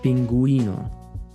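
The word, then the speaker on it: pingüino: youth here it sounds like a combination of G and W in English like this Nicaraguan see Pinguino Nicaraguan sir Pinguino so all those two dots are telling you is that you're not gonna pronounce it like you might if it wasn't there so you know when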